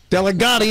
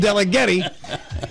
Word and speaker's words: Delegetti: So here's a tip for all of you who call her Delegati instead of Delegetti. Next time you say it, just remember to rhyme it with Joey Torts Ferretti.